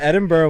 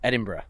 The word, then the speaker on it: Edinburgh: Edinburgh was like the coolest place I've ever gone to.